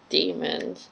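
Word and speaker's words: daemons: bridge babes belt Dae mo n but it's pronounced demons are these connected to the children and what this gobblers who's that so the oblation board are doing with mrs.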